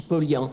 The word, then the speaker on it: Paulhan: Je n'insiste plus du tout maintenant pour qu'on prononce Paulhan, mais c'est évidemment la véritable prononciation.